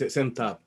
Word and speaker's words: SemTab: So we discussed a little bit about the benchmarks that is used by the semantic Table Challenge. Am I saying it correctly? Yeah, it's SEMTAB.